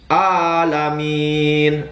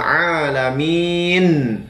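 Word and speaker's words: العالمين: huruf nun ya teman-teman Jadi huruf yang di akhir ayat itu tetaplah dibunyikan sehingga ketika kita menyebutkan alamin Nun makharijul huruf nun berada di Pangkal hidung jadi Kembalikan ke makhrajnya yaitu huruf nun ke ujung ke Pangkal hidung teman-teman Ya lanjut ke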